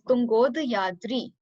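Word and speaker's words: Tungodayadri: So when we'll join A plus U, it will give us O. So it's Tunga means the highest, and Udyadri. So there is like this mountain whose name is Uday, and it's in the eastern hills. So Udyadri, Tunga Udyadri means Tungod Yadri. When you will join it, it would be Tungod Yadri.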